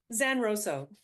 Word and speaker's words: Zanrosso: Zanrosso. Zanrosso.